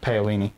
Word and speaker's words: Paolini: How do you pronounce the author's name? It's Christopher Paolini.